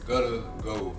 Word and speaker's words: Guttaggo: How do you pronounce it? Again, Guttaggo, Guttaggai. It's Guttaggo, and we're gonna let you know a little bit about what exactly it is today.